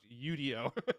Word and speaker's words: Udio: I actually had a call with the founders of Udio and asked how it's pronounced, and they said it's pronounced Udio.